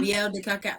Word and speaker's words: miel de cacao: Miel de cacao. Can you pronounce that for me one more time, Dr.